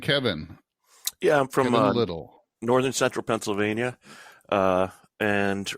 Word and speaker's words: Liddell: Kevin Liddell, I'm sorry, Liddell, right? That's how it's pronounced in the old country.